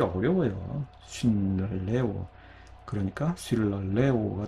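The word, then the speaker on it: συλλαλέω: 예, 마찬가지로 쉴랄레오 역시 원래 쉰랄레오인데 예, 자음 동화가 일어나서 쉴랄레오가 된 거예요.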